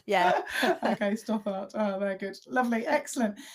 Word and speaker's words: Stothart: Stoppart. Just how it's spelled. Yeah. Okay. Stoart.